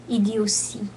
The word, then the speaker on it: idiotie: Ido- T-I is C. Idiocy. Oh, idiocy.